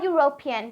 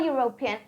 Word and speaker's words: European: a university here a European because the sound is y a European I hope you understand the